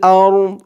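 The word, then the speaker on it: الأرض: দদ কেও ধরবে আরদ দদের উচ্চারণটা লাস্টে একটু ভাসবে ওয়া মা ফিল আরদ ওয়া মা ফিল আরদ।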